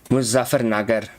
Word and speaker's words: Muzaffarnagar: Like, do you know how I should pronounce that? Should I go look that up? Muzaffarnagar.